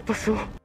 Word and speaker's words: pasó: ¿Qué pasó? ¿Qué pasó? ¿Qué pasó? Pasó. Emphasis on the O at the end, telling us that this is in the past tense, meaning what happened.